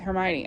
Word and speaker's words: Hermione: And so Hermione's basically teaching Crumb how to say her name. Hermione. He calls her Hermione.